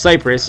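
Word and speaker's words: Kiparis: which i personally loved the cypress yep it's pronounced cyprus it's a russian gun and i researched all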